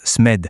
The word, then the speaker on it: SMED: On prononce SMED, c'est l'acronyme de système de mesure pour l'excellence des destinations.